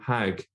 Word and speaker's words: hajj: borrowing from the hebrew hague in fact in some arabic speaking countries including egypt they still pronounce it as hag so it's directly from